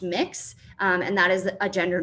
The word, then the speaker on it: Mx: I myself prefer the honorific MX, which is pronounced mix, and that is a gender neutral version of the honorific.